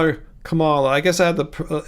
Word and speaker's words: Kamala: The way I remember how to pronounce her name is that it starts with comma, like the punctuation mark, Kamala. All right, I wouldn't call her Kamala.